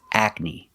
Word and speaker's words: acne: Our next word is acne. The first syllable is like black cat. Ac. And the second syllable is knee, the long E like green beans.